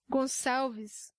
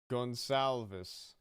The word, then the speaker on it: Gonçalves: It's not even that hard of a name to pronounce, but he has the little accent there, the same as French. It's a S sound, like in garçon.